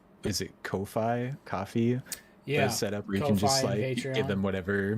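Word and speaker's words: Ko-fi: Kofi I don't know I thought it was literally supposed to be pronounced coffee because it's like there's a hike buy me a coffee yeah maybe maybe that's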